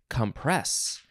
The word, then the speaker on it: compress: Now, I think in the last episode, it was compress, We are emphasizing the first syllable this time, compress.